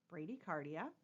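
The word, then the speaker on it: bradycardia: clue to you this term is Brady cardia Brady cardia is how it's pronounced and again if you need to hit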